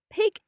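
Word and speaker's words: pigg: Pig is being alert, being the right. opposite of tired. And how do you spell that? P-I-G-G. Right, okay. Is that short vowel sound again? Yeah, pig.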